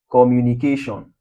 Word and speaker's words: communication: Breaking it down we have com we have mu we have ni we have ca then we have sion. Where should we have the stress syllable? We have it here at ca tion.